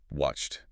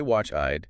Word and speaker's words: watched: It is not always a hard ed syllable. Right. We do not say watch-eyed. No. We don't say cook-ed. Exactly. That sounds very robotic. It breaks the flow of the sentence. Usually it's just a soft T-D sound.